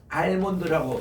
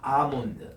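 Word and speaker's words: almond: 요거를 할 때에 이렇게 딱 쓰면은 많은 분들이 알몬드라고 이렇게 하는, 실제로 우리나라 과자에서 보면 알몬드라고 옛날에 표기도 그렇게 했습니다. 그런데 미안하게도 R 할 때 L이 묵음이에요. 묵음이고 요거 대신에 R을 길게 하셔야 됩니다. 따라합시다. 아몬드. 아몬드. 아, 요게 정확한 발음이에요.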